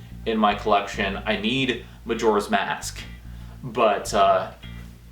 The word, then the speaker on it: Majora's Mask: my collection I need Majora's Mask but uh I I've said it right that time I said a major last time but yeah Majora's Mask um so yeah this